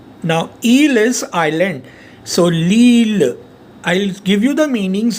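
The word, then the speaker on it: l'île: So it will be pronounced as Lille. Now Eel is island, so Lille.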